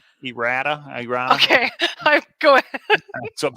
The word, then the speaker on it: errata: a video about errata was that how you pronounce it k-pro e rada kind of like eroticism errata okay go ahead so